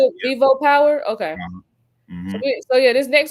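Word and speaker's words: VivoPower: with Ripple um with V how is this pronounced? Vivo Vivo Power. Vivo Vivo Power. Vivo Power.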